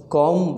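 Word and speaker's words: comb: तो यहाँ पे बाल बनाना, बनाने के लिए हम कॉम वर्ड का यूज़ करते हैं, सी ओ एम बी. तो इसमें बी साइलेंट रहता है, तो ध्यान रखिए कॉम द हेयर.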